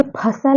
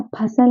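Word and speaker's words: फ़सल: जैसे हम ये लिखा है कहीं पे इस तरह, अब ये फसल नहीं है, फसल होता भी नहीं है, फा साला फसल नहीं, यहाँ पे नुक्ता है, बिंदी है, इसे हम क्या पढ़ेंगे, फसल। फा है ये, ठीक है।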